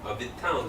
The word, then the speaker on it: Vuitton: Vuitton 重音在后面 Louis Vuitton，还有 Costco，很多台湾朋友会念成 Costco。